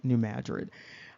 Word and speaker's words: New Madrid: New Madrid area and that's also like Madrid in Spain but it's pronounced New Madrid um here and so it indicates here that this is going to begin at 12:40 p.m.